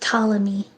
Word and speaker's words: Ptolemy: It's pronounced Ptolemy. Oh, Ptolemy.